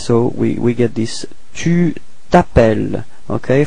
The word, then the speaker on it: t'appelles: We're starting with voyelle, so it's the same thing as previously, disappears, so we get this tu t'appelles. Okay, final S is not pronounced. Tu t'appelles.